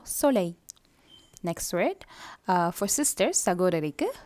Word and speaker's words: soleil: Karasila vara L la neenga pronounce pannakura. And I L, Y polara sound pannam. Double L mai, so soleil.